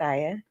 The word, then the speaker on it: Aya: May you please pronounce your name? Yes, please introduce yourself to the people. Hey everybody, I'm Goddess Aya.